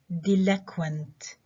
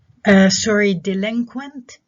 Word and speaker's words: delinquent: And we have delinquent. Delinquent. So delinquent, the stress is on the syllable before the last وجايين بعد هذا المقطع consonant cluster اللي هو العبارة عن الإنج والكا والوا.